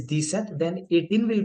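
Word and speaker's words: dix-sept: हमने किया था दिस और 7 हमने किया था सेथ, जो मिला के क्या बन जाएगा आपका दिस सेथ। और मेक श्योर कि दिस सेथ के बीच में आपको डैश लगानी है, this Seth, pronunciation is this Seth.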